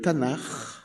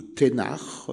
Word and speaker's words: Tanakh: Il faut demander ce qu'on appelle le Tanakh, ou Ténach, selon la prononciation.